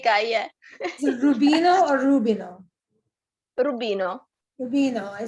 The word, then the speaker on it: Rubino: Is it Rubino or Rubino?